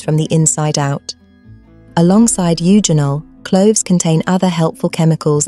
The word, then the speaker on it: eugenol: Eugenol, pronounced eugenol, belongs to a family called phenolic compounds.